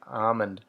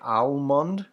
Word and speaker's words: almond: an argument recently about how i say almond do you say almond or almond i always say it and say the l is silent just almond like